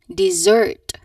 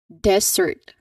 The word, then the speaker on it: dessert: Dessert again dessert. So the stress should be on the second second syllable.